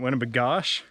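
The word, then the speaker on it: Winnibigoshish: They call it Winnie, but it's actually called Winnipegosh-ish. But people in Minnesota pronounce it Winnipegosh. So it has 3 different names.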